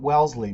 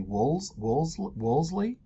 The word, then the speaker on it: Wolseley: So the next one we're going to look at here is 109 Wolseley, not Wellesley, Wolseley, Pam, the D is silent.